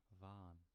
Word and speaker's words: vaan: Technically, in pronunciation, it's just va, but with an n added. You don't really pronounce the other a sound that's attached, so it's just a long a.